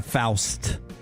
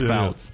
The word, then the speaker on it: Fouts: Montana Faust is wrong. It's Fouts.